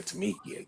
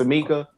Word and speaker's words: Tamika: I don't want to say Tamikia. Jesus. It's Tamika because I met her in Houston.